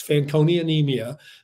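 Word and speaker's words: Fanconi anemia: life he has and you you uh correctly pronounced it it's fancon anemia which is a rare genetic blood disorder that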